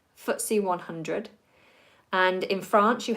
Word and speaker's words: FTSE: those particular markets so the FTSE is pronounced footsie footsie 100 and in France